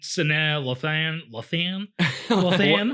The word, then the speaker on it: Sanaa Lathan: And then Sanaa, Lathan.